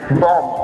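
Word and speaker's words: bomb: The first word is written here, आप इसको spell करोगे बी ओ एम बी, बट आप इसको प्रोनाउंस करोगे बी ओ एम बॉम्ब.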